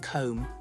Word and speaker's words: comb: Nope, that sneaky B is silent. Same with thumb and comb.